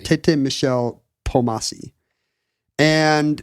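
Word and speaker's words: Kpomassie: His name has a silent K. It starts with a KP. And you don't pronounce it. It's not Kamasi. Kamasi. Like so many great Beetle Bailey comics, it begins with KP. But I don't think you say the K. I think it's just Pomasi.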